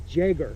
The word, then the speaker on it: Jäger: It's pronounced Jäger. Oh, they say Jäger? Yeah, Jäger.